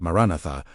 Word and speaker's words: Maranatha: The believers who first cried out Maranatha were not immune to that same discouragement. They simply refused to let the silence of unanswered time become the final word on what they believed. Maranatha, again, pronounced maran at, meaning come, Lord was